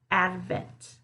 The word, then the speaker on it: advent: advent advent advertise advertise one thing you might notice here is that i'm not making that duh sound so i'm not saying advertise or uh add the vent okay but instead add okay i'm stopping it right at the ad advent advertise now